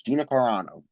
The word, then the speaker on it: Gina Carano: Gina Carano. That is what we are going with as the pronunciation for Gina Carano.